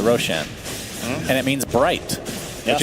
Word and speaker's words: Roshan: Roshan is actually a word in Farsi, which is why I pronounce it Roshan.